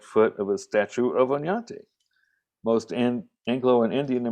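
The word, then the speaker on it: Oñate: a spanish explorer named onyate pronounced as if there was a y after the end cut off the right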